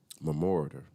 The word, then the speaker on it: memoriter: Memoriter. I think that's how you say it.